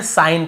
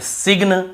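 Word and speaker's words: sign: रहे यहां पर भी साइन सिन नहीं पढ़ेंगे साइन पढ़ेंगे ठीक है ऐसे सिन ऐसे नहीं पढ़ना है हमको साइन ही पढ़ना है लेकिन जी को नहीं पढ़ना है सिग्न कई लोग सिग्न बोल देते कई लोग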